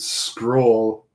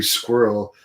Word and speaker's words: Scurll: girl yesterday and said she told me I could pronounce it Scroll, which someone else had told me it's Marty Squirrel, but he was working for them too.